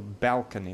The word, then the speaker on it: balcony: So balcony, the first syllable is stressed.